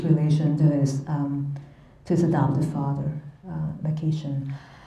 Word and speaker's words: McEachern: to his adopted father, Makishan. We have various ways to pronounce that name. I'm just going to pronounce it Makishan. You can pronounce it any way you want.